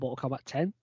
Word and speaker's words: Mortal Kombat X: was Mortal Kombat X that's all Mortal Kombat 10. it's always supposed to be I'd say 10.6 Roman numeral into it sir yeah but it was